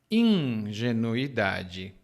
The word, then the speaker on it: ingenuidade: é é ingenuidade e aqui bastante atenção no na pronúncia ingenuidade Hum E quando alguém